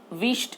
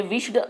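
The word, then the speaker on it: wished: और विश्ड, वहाँ पे विश्ड ऐसा नहीं बोलना है बच्चों, विश्ड बोलना है. ओके, ईडी का साइलेंट उच्चार है.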